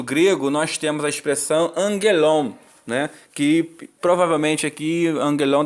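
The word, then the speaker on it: ἄγγελον: temos dois Gama né dois Gama quando tem um Gama geminado de acordo com a gramática grega o primeiro ele deve ser traduzido pronunciado como se fosse um n então a expressão correta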